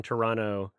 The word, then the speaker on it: Toronto: Also, I'll mention people from Toronto, they like it pronounced Toronto as if you don't say the second T. Oh, Toronto.